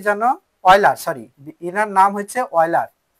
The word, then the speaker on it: Euler: ওলজার না কি জানো, অয়লার, সরি, এনার নাম হচ্ছে অয়লার। তো অয়লারের নাম মনে রাখার কৌশল ULER, কিন্তু বানানে এমন আছে EULER, অয়লার, কিন্তু উচ্চারণ কি অয়লার।